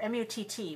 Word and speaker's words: mutt: But M-U-T or M-U-T-T with a double T is mutt.